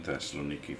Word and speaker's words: Thessaloniki: the kingdom of thessaloniki i'm using them the modern greek pronunciation of the names because i actually lived in thessaloniki for several years so i'm used to the greek names the modern greek names uh hello what's that